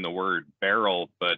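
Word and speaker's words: Beryl: uh saying the word barrel but it's spelled beat uh bravo echo romeo yankee lima uh like you're not pronouncing it wrong it's just a homophone or whatever you call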